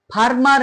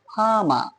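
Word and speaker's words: farmer: Letter যদি consonant হয় সেক্ষেত্রে ওই আর এর উচ্চারণ হয় না। এখানে ফারমার না হয়ে কি হল? ফামা।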